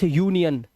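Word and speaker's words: union: अब ये जो है ये यू है तो इसे अब इसे अनियन नहीं पढ़ेंगे यूनियन अब इसे पढ़ेंगे यूरिनल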